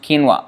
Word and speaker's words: quinoa: So quinoa, pronounced quinoa.